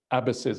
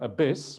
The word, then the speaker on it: abbess: But if we keep that model, sure, we can have female abbesses as well. Not the female abyss, but the female abbess. It's important to pronounce that word right.